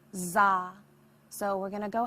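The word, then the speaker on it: dza: This seed syllable is simply D-Z-A, pronounced to make za.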